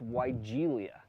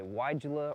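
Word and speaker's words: Weigela: either say wigela or weigelia the plant is actually named after a german botanist christian aaron fried von vigel so if you want to pronounce it with a v you can do that but no matter how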